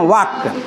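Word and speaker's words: walk: जाएगी टहलने का मीनिंग वाक वाक मीस टहलना डब्लू ए एल के एल वहां साइलेंट हो जाता है उसको बोलते हैं वाक हा साइलेंट रहता है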